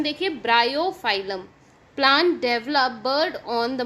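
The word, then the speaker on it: Bryophyllum: Again pronunciation देखिए, ब्रायोफाइलम.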